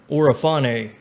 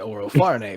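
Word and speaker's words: Orofarne: pronunciation of my name you forgot the r in oro farney but uh i just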